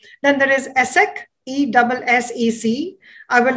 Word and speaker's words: ESSEC: Then there is ESSEC, E-S-S-E-C. I will not say the expanded version in French because I will surely mispronounce it.